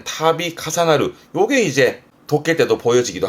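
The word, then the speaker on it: 度重なる: 요렇게 쓰면 앞에게 빈도수의 두자라서 빈도수의 도자라서 거듭 반복되는 부분인데 발음이 타비 카사나르 타비 카사나르입니다. 말 그대로 뭔가 일이 거듭되는 되풀이 되는 요즘 뭐 사건이 되풀이 된다라든가 그럴 땐 타비 카사나르 요게 이제 도해 때도 보여지기도 합니다.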